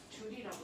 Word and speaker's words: 줄: 그래서 줄이라는 과학자의 이니셜을 따서 대문자 J라고 쓰고 줄이라고 읽습니다.